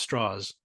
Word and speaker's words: Strauss: mispronounces his name and actually it's pronounced straws like a straw I think it doesn't